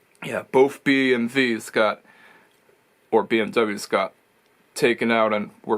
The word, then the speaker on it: BMW: got taken out or BMV or BMV as some Germans like to pronounce it yeah both bmv's got or BMWs got taken out and